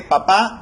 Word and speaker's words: papá: Entonces tenemos el ejemplo de papá y papa, ¿no? En papá nosotros vemos que la tilde se presenta al final, en la última sílaba, papá.